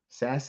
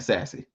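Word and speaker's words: Sasse: granted Dr Ben sass sass say his name is s e look y'all ain't gonna get me on here calling that man sassy but he was a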